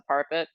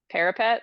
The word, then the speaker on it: parapet: before she crosses the parpet. Uh, Parpet. where, huh? Parpet, is that how you say it? I say parpet. Parfait. Parapet? Oh, that's probably right.